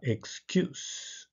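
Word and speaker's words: excuse: ですから次はエキューズエキューズエキューズという読み方もありますがどちらにしても後ろが強いです Extend Extend これも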